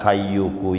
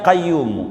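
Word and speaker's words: قيوم: aja yang bacanya Salah bisa nyampai ke Makkah bacanya Salah ya kayuku yaayumu yaayuku ya yau ya qayumu ya yaay qayumu ya kayu I bat ya kayu ya qayyumu ya kayu ya Qayyum nyampai Makkah yakin padahal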